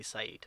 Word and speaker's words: Saeed: name is people find a lot of difficulty pronouncing this so i just easily tell them well you can call me syed or you can call me i come